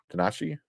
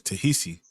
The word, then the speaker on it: Ta-Nehisi: how you pronounce name first name Tanashi takishi I thought uh Kishi but says that says tahi I thought kissy yeah ta and there's an n in there um but It Coats